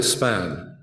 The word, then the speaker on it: SPAGN: take note of and by the way I call it spam the g is silent so we're next